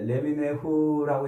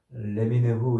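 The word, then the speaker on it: לְמִינֵהוּ: 이 표현은 히브리어로 이제 레미네후라고 이렇게 발음을 하는데 이것은 민이라는 단어에서 나온 말이에요. 민. 이 민이라는 말에서 앞에 이제 접두어를 붙이고 끝에 또 전미어를 붙이고 그래서 레미네후 이렇게 발음을 하는데 민이라는 말이 뭐냐면 뿌리라는 말이에요.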